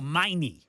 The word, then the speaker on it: Meine: Oh, Meine.